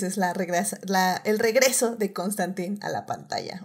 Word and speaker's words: Constantine: la el regreso de constantín a la pantalla o a nuestro streaming lo que sea primero pero bueno Muchas gracias o cómo se pronunciaba Constantine era creo que la manera correcta No sí porque sí